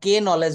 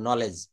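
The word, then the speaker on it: knowledge: এল ই ডি জি এখানে দেখেন আমরা কে নলেজ বলি না আমরা কি কে নলেজ বলি আমরা কে টাকে বাদ দিয়ে এন থেকে শুরু করবো নলেজ একই নিয়মে নাইট নাইট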